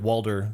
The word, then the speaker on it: Walter: By the way, he says Walter like Walder, W-A-L-D-E-R. Walter. And that's how old people say my name, Walder.